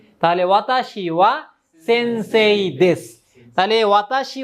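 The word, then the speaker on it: は: গেছে না স্যার এই ওয়াটার উচ্চারণটা কি স্যার এই যে লিখতে গেলে হা হবে হ্যাঁ লিখবেন হা শুধু উচ্চারণ করবেন কি ওয়া মানে বলবেন ওয়া লিখবেন হা ওয়াতাশি ওয়া সেনসেই দেশ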